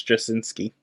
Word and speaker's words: Straczynski: Straczynski. Straczynski? I think the C is... Nah, it's like Straczynski. I think the C is silent. I think it's Straczynski.